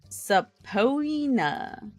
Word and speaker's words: subpoena: The way you pronounce this is subpoena.